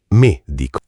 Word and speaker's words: medico: Con la e chiusa. Medico.